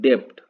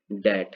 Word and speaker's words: debt: ठीक है, अब उसी तरह से इसको आप क्या पढ़ेंगे, DEBT, इसको हम लोग क्या पढ़ते हैं, डेप्ट। डेप्ट, डेप्ट पढ़ते हैं, लेकिन है क्या, डैट है।